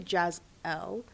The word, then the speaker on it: Jazell: said my baby's gonna be a model one day, and she just spelt it phonetically, so it's actually Jazell, like Jazzle.